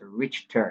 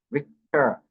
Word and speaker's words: Richter: The Richter scale is not pronounced Richter. It's a German word. Richter. Rick, like R-I-K-T-E-R. Richter. That's how it is pronounced.